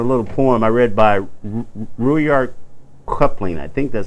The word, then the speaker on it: Rudyard Kipling: I'm going to tell you something, a little poem I read by Rudyard Kipling. I think that's how you pronounce his name. Rudyard Kipling.